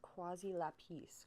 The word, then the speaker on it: quasi lapis: stop in again so the pronunciation of this is quasi lapis correct and it means like